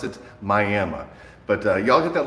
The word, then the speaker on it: Miami: It's spelled like Miami, but you pronounce it Miami.